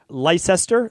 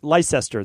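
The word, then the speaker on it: Leicester: impossible for me so let me spell it out for you l e i c s t r and everyone from the UK can absolutely give me a hard time on Instagram if they would like but I'm pronouncing it Lester Lester that's going to be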